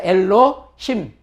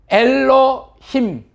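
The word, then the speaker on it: אֱלֹהִים: 점이 하나짜리가 위에 있으면 오 발음이라 그랬죠. 그래서 엘로에다가 해, 히응이죠. 그 다음에 이, 장모음 이. 그래서 엘로, 힘. 요거는 미음의 이제 그 꼬리형이죠. 꼬리형. 그래서 엘로힘 해보시죠. 엘로힘.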